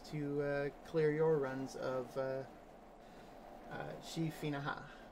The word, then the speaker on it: Sidhe Finnachaid: clear your runs of G FINA ha which is apparently the correct pronunciation a Dagon